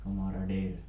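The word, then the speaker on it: camaraderie: वो प्रोनाउंस कैसे करेंगे, कमाराडेर, ठीक है, कैसे करेंगे, कमाराडेर, ठीक है।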